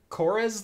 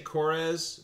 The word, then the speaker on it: Coors: See, you say Coors, but I'm pretty sure that just means Coors. Yeah. As in core. Yeah. As in Marine Corps.